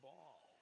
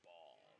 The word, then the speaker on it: Bahl: sixth fox valley's sean ball that's another you know sean ball because it's pronounced or it's spelled bahl henry guo fourth place